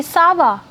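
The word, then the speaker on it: ça va: you can just say Sava the difference is sava Sava see the intonation is different for the question you have Sava for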